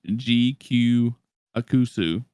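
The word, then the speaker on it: GQuuuuuX: Oh, it should be pronounced as GQ Akusu.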